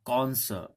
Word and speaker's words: connoisseur: और कॉनसर of food and wine, उसे काफी अच्छा, कॉन्सर, okay the pronunciation of this word is कॉन्सर, actually I got this from Oxford dictionary.